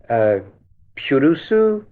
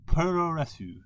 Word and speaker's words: Puroresu: We had a wonderful piece from one of our roving Purusu. I'm going to make sure that I pronounce it correctly. Pete, that's where I defer to you, my friend. Puroresu. Puroresu, which is Japanese wrestling stated in Japanese.